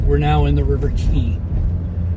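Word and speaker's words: Quay: Once we cross past the farmer's market, we're now in the River Key. It's spelled Q-U-A-Y, but it's pronounced Key, and a key is like a wharf area or an area where it's close to a shoreline.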